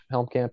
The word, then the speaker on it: Helmkamp: is just my name it is at justinhelmcamp helmcamp is spelled h-e-l-m-k-a-m-p uh the other ways that you